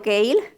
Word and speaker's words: kale: No sé si han oído hablar del cale o kale, lo pronuncian de distinta manera.